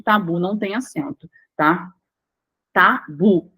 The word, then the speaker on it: tabu: não tem acento tá Tabu tá bu bu é o mais forte aí Mas aqui é